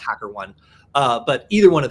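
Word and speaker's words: HackerOne: uh could be or I believe it's pronounced hacker one uh but either one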